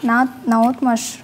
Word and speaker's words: наотмашь: Наотмашь на О.